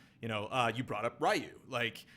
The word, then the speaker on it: Ryu: it's you brought up Ryu. It's, Ryu is the accepted pronunciation, but it's actually not in Japan, it's Ryu, or it's really quick and there's a D somewhere Ryu. in there.